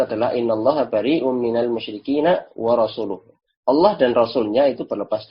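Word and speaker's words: ورسوله: Yang mana dia membacanya dengan tadi, innallaha bari'um minal musyrikina wa rasulih. Permasalahannya di sini adalah dikata wa rasulih yang dibaca majrur. Nah, ini maknanya berbeda kan, harusnya wa rasuluh.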